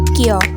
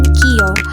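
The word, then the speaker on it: きょ: Lalu contoh yang kedua, ketika ada huruf viragana q lalu di belakangnya ada hurufragana io kecil maka dibacanya menjadi ky bukan qio.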